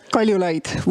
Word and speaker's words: Kaljulaid: Also with us is Kirsty Kaljulaid. Am I saying it correctly? Close enough? Kaljulaid.